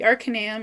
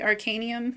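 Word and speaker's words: Arcanaeum: So the Arcanium, or the Arcanium, I think it's pronounced.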